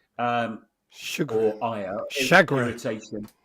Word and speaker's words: chagrin: Chagrin, as in shag. Yeah. Okay. Well, chagrin is my preferred pronunciation, and I won't hear of correction on that. Chagrin. It's French, isn't it? Anyway. Yeah, chagrin. Yeah, exactly. It is French, and I'm doing it in a French way.